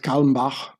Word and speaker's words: Kalmbach: So here, Herbert Kalmbach, I pronounce it the German way, was an American attorney and banker.